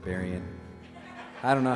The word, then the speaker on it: Berrien: I was born in Southwest Michigan, and the county I lived in, Berrien County, that's how you say it, Berrien.